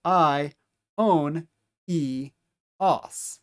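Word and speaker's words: αἰώνιος: The initial two vowels are a dip thong. that make that I as an isle sound. Then our next syllable is omega new own. And then these two vowels are going to be pronounced separately from one another. I and then o as the last syllable the combination of omocron and sigma. So I own eos.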